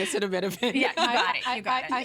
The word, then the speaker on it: acetaminophen: How do you pronounce it? I keep repeating it in my head. Acetaminophen. I've been saying acetaminophen.